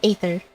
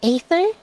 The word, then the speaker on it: Aether: I always said Aether, but I heard the VA say Ether, so I was like, oh, maybe that's how you pronounce it.